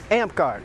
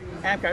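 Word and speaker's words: Amtgard: and you're with a group how do you pronounce it ampgard ampgard and what is ampgard for those ampgard is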